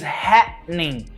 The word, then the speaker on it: happening: And the pronunciation is happening, happening. There is a pause. There's a glottal pause.